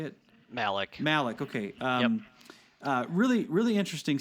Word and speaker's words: Malik: Malik.